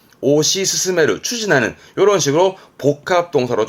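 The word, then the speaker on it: 推し進める: 그렇죠 맨 처음에 했던 추진을 동사로 쓰면 이렇게습니다 발음은 오시 스스메르 오시 스스메르 추진하는 요런 식으로 복합 동사로 좀 많이 쓰지요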